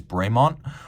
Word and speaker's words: Bremont: a bit of a tribute name the correct pronunciation is bremont although if you wanted to go back to